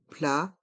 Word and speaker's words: plat: le plat principal le plat principal dans le mot plat le T est mué plat principal il faut